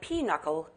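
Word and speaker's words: pinochle: got it here's your bonus the card game pronounced like p knuckle is actually spelled how your answer please p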